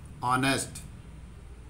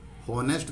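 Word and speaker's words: honest: परंतु इसको जब हम बोलेंगे तो हम क्या बोलते हैं, ऑनेस्ट, होनेस्ट नहीं बोलते, है की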